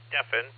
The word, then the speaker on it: Stephen: And my name is Stefan, but it's spelled Sierra Tango Echo Papa Hotel Echo November. So, everybody looks at and they go, "Stephen." And I go, "No, Stefan."